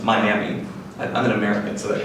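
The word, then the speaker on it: MIAME: This is pronounced Miami.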